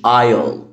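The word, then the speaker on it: aisle: عندنا كمان كلمه ممر اوكي، زي الممر في السوبر ماركت الكبير او اللي هو بتشتري منه البضائع، اسمه بالانجلش ايل ايل ايل. خدت بالك الاس هنا سايلنت ايل ايل.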